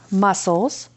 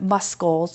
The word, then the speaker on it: muscles: sentence and a pronunciation how does it sound like this isn't muscles it's muscles so you'd have to write it like it sounds all right when you're